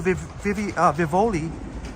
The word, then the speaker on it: Vivoli: Even when Liam and I went to Vivoli in Little Italy, which rhymes with Rivoli, here, Rivoli.